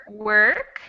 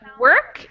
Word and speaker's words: work: that or sound but work is really almost like no vowel it's that so it's like work work not and it's not work it's work okay on to number